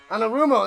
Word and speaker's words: Anarumo: Anarumo.